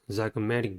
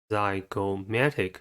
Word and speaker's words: zygomatic: the first word is zygomatic bone the chromatic has four syllables and the stress is a third one the first syllable is